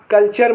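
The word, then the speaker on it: culture: आई ओ एन आए या टी के बाद यू आर ई आए तो टी का उच्चारण च होता है जैसे क्य यू ई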